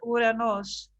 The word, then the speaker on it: Uranos: Father is always the father of Zeus, Kronos, the father of Kronos, Uranos. Is that how to pronounce it? Uranos, the first logos. Greek, yes, Uranos.